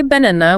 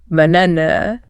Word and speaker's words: banana: We strip the first and last A of their clarity and reduce them to the lazy schwa. We do not say banana, we relax our jaw and say banana. Put an O. When you actively slow it down and analyze the audio, the first and last syllables aren't A's at all. They're just that relaxed sound.